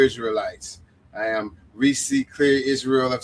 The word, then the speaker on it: Ysrael: And he pronounced that, you spell that Israel with a Y. So it's YSRAEL of C.